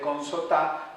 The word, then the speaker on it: Consotá: ha posicionado más el nombre de Consotá, según el historiador, por esa acentuación indígena que en la última sílaba.